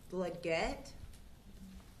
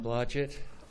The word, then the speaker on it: Blahett: Mr. John Bleget and I do apologize if I've mispronounced your last name. My name is John Blahett.